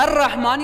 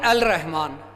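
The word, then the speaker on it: الرحمن: हम "अर-रहमान" पढ़ते हैं, "अल -रहमान" नहीं, इसलिए 'रा' भी हुरूफ़-ए-शम्सी में से एक बन गया।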